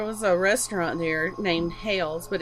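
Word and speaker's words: Hailes: little girl there was a restaurant there named hails but it's spelled h-a-i-l-e-s so i thought that was kind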